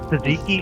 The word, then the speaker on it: tzatziki: I'm sure I'm saying it wrong too. No, you said it perfectly.